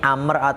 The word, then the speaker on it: Amr: Nih, kalau jenengan pengen tahu ini Amr atau Umar, ini bisa dilihat dari harokatnya, ya. Kalau ain mim ro ada Umar, kalau ada wawunya itu Amr bacanya.